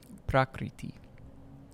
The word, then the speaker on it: Prakriti: Prakriti. And Prakriti can be broken up into its syllables. Pra, Kri, Iti.